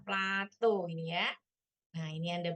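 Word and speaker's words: plateau: daerah apa namanya Plato Plato ya bacanya Plato ini ya Nah ini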